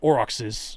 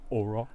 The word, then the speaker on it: Aurochs: I believe it is pronounced Auroch. Yes, I recant that. It is Aurochs. Good on you. And here's why it is Aurochs. It comes from the Greek. It comes from Greek and German.